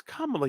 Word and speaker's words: Kamala: Yes, Kamala.